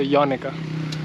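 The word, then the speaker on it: Yanika: जैसे अपने यहाँ होता है ना कोनिका या मोनिका, तो यानिका। Right. तो That's what I always say. It's like Monica with a Y.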